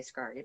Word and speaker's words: Scarry: I was growing up Richard Scarry books I think that's how you say his name some people say scardy but I knew Richard